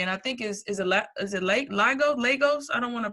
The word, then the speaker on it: Lagos: And so you're a resident of Nigeria, and I think is it Lagos? I don't want to pronounce it wrong. Lagos.